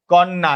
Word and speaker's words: কন্যা: কন্যা ন টা জফলার কারণে দ্বিত্ত উচ্চারণ হচ্ছে।